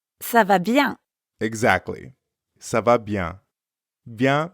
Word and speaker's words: bien: Ça va bien. Comment ça va, Estelle? Ça va bien. You might have noticed that bien also has a nasal sound.